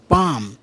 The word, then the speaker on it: palm: पाम, PALM, यल यहाँ silent है, PALM, पाम, पाम अर्थात हथेली।